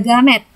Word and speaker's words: gamet: Yang ketiga ada gamet. Ingat ya, bacanya pakai huruf G bukan huruf J.